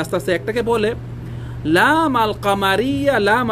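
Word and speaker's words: القمر: যেভাবে নাকি আশামস আপনি আল শামস বললে ভুল হবে, বলতে হবে আশামস, কিন্তু কামারের কাছে গেলে কি বলতে হবে? আল কামার।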